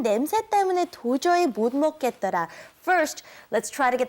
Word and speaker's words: 못 먹겠더라: our lesson, which was 난 냄새 때문에 도저히 못 먹겠더라. First, let's try to get the pronunciation correct in the last part, okay? It's 못 먹겠더라.